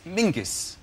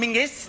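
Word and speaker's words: Menzies: his name is very odd his name is Mingus Mingus yes SC yeah Ming yeah but it's pronounced it's it's spelled m n z i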